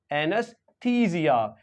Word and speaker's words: anaesthesia: ए ई है इसको हम प्रोनाउंस नहीं करते इसकी जगह पे एक श्वा साउंड को लेकर के आते हैं और श्वा साउंड होता है आ तो इस इसी वजह से anus anus एनेस्थीसिया एनेस्थीसिया एनेस्थीसिया तो इस तरह से